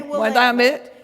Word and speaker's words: Willamette: we say is, when I say Willamette, you say damn it. Willamette, damn it. Willamette, damn it. And that may sound a bit weird, but I challenge you to find any other word that rhymes with Willamette.